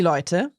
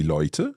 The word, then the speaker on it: Leute: So today, or die Leute. the people, die Leute.